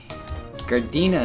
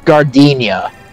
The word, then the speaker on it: Gardenia: __ ] oh boy gardena is gonna take a bit huh uh miley you're missing the eye in gardenia gardena did i say right there it's gardenia rodenia yeah oh okay that's